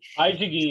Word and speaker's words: Baidiguin: Baidiguin, eu aprendi. Baidiguin. Tira o M, tira esse M da frente, né?